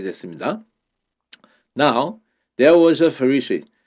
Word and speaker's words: Pharisee: 바리새인들 할 때 발음이 Pharisee입니다. Pharisee.